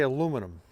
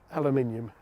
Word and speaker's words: aluminium: I say aluminum. Aluminium. See? Aluminium.